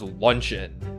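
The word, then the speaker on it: luncheon: word uh lunch on I think it's just pronounced lunchin lunchin yeah un forget of a lunch in lunch in but like I always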